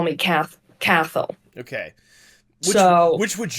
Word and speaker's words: Cathal: And then it depends where you're from how to say the second name. So it's a very Irish name. So the Irish way is Cathal. The British will call me Cathal, and the Americans will call me Cathal.